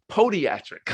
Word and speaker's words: Podiatric: Podiatric? Is it a long O? Podiatric, okay, at Temple University School of Podiatric Medicine.